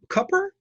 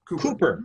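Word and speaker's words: Kuper: from your website and correct me on the pronunciation of the name um Peter um C copper cooper cooper okay Cooper he's known for Mad Magazine spy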